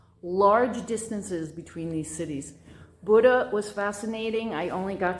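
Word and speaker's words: Bodø: I went up to Buddha, which is spelled B O D O. It's pronounced Buddha.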